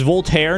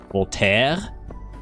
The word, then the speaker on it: Voltaire: Is Voltaire not pronounced Voltaire?